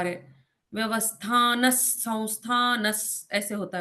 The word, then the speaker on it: व्यवस्थानः: तो वो ह वाली साउंड निकल जाती है और विसर्ग के आगे कौन सा अक्षर है उस हिसाब से वो उच्चारण बदलते रहते हैं। न, न है ना? अब यहाँ पर स आता है।